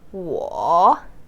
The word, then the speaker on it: 我: Okay, according to your knowledge from our first episode, you might pronounce this as 我. Yes, 我. I hope you got it right.